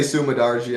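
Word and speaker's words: Su Mudaerji: I say Sumadarji.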